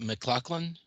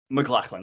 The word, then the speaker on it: McLachlan: How do you pronounce that name? Adelakun. And Holly, was it McLaughlin? McLachlan, yes, yeah.